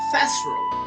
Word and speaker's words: Fazrel: Anyway, Fazrel, for the way, Fazrel, Fazrel, yeah, that's how it's supposed to be pronounced.